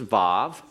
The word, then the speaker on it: vav: markings gimmel dollet hey wow and you have to keep in mind that some pronounce this as VAV Z and notied I